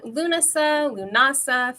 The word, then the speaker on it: Lughnasa: I've always said Lughnasa as well. I was going, is it Lughnasa? Have I been saying it wrong my whole life? I don't know. Like, you're right. The internet, old witches. I don't know. What do you say, Scarlett? How do you pronounce it? I always say Lughnasa. That's how I've always, and I've heard it that in Europe too. Like, I've spent a lot